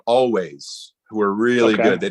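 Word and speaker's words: Alvvays: the album's called Blue rev the band's called always but it's spelled a-l-v-v instead of w okay I'll check it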